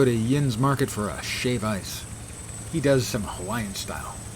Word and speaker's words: shave ice: I don't understand why it's shave ice instead of shaved ice, I gotta say. I understand that's the appropriate pronunciation.